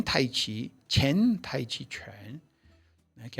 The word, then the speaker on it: Chen: E o Tai Chi Chuan, dito Shen Tai Chi, Chen Tai Chi Chuan, né, que é a pronúncia correta, Tai Chi Chuan, Chen Si Tai Chi Chuan.